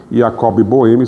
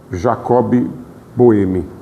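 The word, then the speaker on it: Jakob Böhme: Yacob Bohemi, se vocês tiverem eh oportunidade de pesquisar, eh escreve com J, né? em português é Jacob, Jacob Boemi em alemão pronúncia com I, Jacob.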